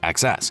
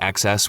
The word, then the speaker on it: XeSS: Intel's XeSS, pronounced XeSS, uses AI via Intel's Xe Matrix units to upscale from lower resolutions.